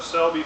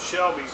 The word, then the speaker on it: Selby: raw honey from the selby family i mispronounced that i called it shelby's on my other video